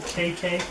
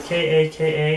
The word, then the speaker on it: Kaka: I'm going to pronounce it KK. It's actually K-A-K-A, and I highly doubt they mean for it to be Kaka, because that means something very different to people. But KK is how I'm going to say it.